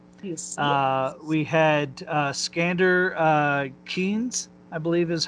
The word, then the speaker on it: Keynes: you see, We had Skander Keynes, I believe is how you pronounce his last name, played Edmund.